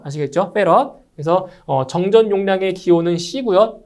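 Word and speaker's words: 패럿: 아시겠죠 c로 표시해 주고요 그 단위는 F 이걸 페럿이라고 읽어요 아시겠죠 페럿 그래서 정전 용량의 기호는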